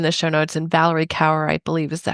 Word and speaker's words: Kaur: And Valerie Kaur, I believe is that how you pronounce her last name, Kaur.